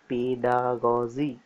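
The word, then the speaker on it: pedagogy: এটা উচ্চারণটা হবে পেডাগজি।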